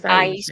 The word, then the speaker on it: Aisha: Aisha, is that how we say her name? Aisha. It's Aisha. Aisha.